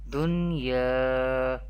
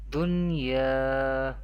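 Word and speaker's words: دُنْيَا: We pronounce the Izhar-e Mutlaq rule without Gunna in an Arabic accent. How do we pronounce? Dunya, Bunyanun, Sinwanun, Qinwanun.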